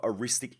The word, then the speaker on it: eristic: aware of and it's called The Law of aristic escalation now let me just read out how to spell it so that if you do look it